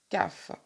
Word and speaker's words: Kaf: Et voilà donc, comme je vous le disais tout à l'heure, la carte de la lettre hébraïque qui s'écrit Kaf, PH, et qui se prononce CAF, avec la couleur violette.